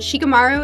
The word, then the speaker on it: Shikamaru: Because, is it Shikamaru?